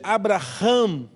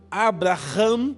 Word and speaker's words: Abraham: separa de Abraão Abrão ainda não é Abraão a pronúncia Abraham porque o nome do senhor uma letra do nome de Deus entra no nome de Abraão Abrão o que para nós é apenas uma letra a e aumenta a pronúncia de Abraão pro Hebreu ou pro judeu Abraham ele passa a ser